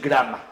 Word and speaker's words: Granma: que se llamaba el Granma, que no es el Granma, es el Granma, es la abuela. Pues, es la abuela. Pero luego los cubanos, como todo lo pronuncian bien raro, es el Grama.